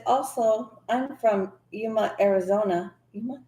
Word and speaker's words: Yuma: Yuma, am I saying it right? Yuma. Yuma, Yes.